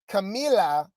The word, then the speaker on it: Camila: Camilla. It's Camila. Camila. Yeah. Sorry, Camila.